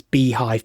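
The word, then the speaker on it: beehiiv: It tried to create a I think it's I think the way to pronounce it is Beehive, but it's one of the newsletter platforms like Substack.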